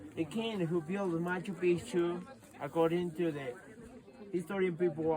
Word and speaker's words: Machu Picchu: it's something the same up there that is Machu Picchu my toothpaste and the opposite this one careful with the pronunciation is Machu pics because if you say